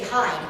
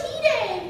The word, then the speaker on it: hide: you say you say hide cuz it's h d e if you say hide you're going to get jumped no it's heed you're pronouncing it wrong um it fans can